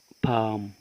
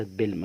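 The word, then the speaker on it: palm: بام بام بام بام برض هنلاحظ ان حرف الال اتكتب ولا ينطق بام البي ب طبعا والاي الف والام مم اصبح بام بام يعني نخله بام يعني نخله يبقى النخله اسمها بام وليست بل ما نقولش بلم عشان في ناس يا جماعه بتنطق غلط لا اسمه بام بام طيب طبعا دي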